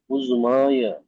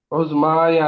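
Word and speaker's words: عظمى: হিয়া আল মুদিরাতু, হিয়া আল মুদিরাতুল উজমায়া। উজমায়া না, এটা উজমা, ইয়া সাইলেন্ট।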